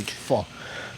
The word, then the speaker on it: pho: A friend of mine, a Vietnamese friend of mine, taught me how to say pho.